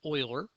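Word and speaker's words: Euler: a a mathematician named Oiler okay I know his name does not look like it's a pronounced Oiler but that is the accepted pronunciation of his name I have not uh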